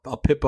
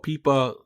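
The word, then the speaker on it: APIPA: And you will get an aipa a pipa or peipa people pronounce it differently when your when there's something wrong with whatever device is in charge of giving out IPs.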